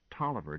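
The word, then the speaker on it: Taliaferro: But it's pronounced Toiver just the same.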